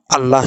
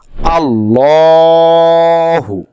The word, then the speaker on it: الله: আমরা সূত্রটি আরেকবার পড়ি আল্লাহ শব্দের ডানদিকে জবর অথবা পেশ থাকিলে লামকে মোটা বাক করিয়া পড়িতে হয় যেমন আমরা একটা উদাহরণ